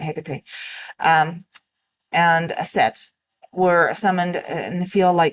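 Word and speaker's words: Hecate: HEC and I realize some are gonna say it's heate but I've always pronounced it HEC um and a set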